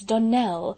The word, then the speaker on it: Donnell: morning connected with the donald children clarice almira told me that you pronounced our name donal now miss shirley the correct pronunciation of our name is donnell accent on the last syllable i hope you'll remember